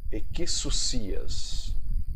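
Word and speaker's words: ἐξουσίας: escrita no grego, e você vai pronunciar equissousias. Equissousias é a pronúncia da palavra potestade no grego.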